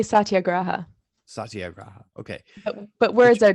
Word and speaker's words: satyagraha: you why don't you tell us how you pronounce it so the listeners know i'd say satyagraha satyagraha okay but words are just words and